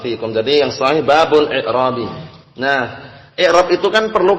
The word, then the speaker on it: i'rab: Kalau membaca babul i'rab lain lagi. Jadi yang sahih i'rab bukan a'rab, karena a'rab itu jamak dari a'rabiyun, badui.